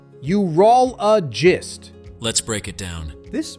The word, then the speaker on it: urologist: The correct way is urologist. Start with U, then roll, add a soft and finish with gist. Together, urologist.